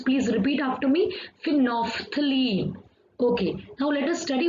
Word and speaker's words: phenolphthalein: So how we have to pronounce, please repeat after me, phenolphthalein.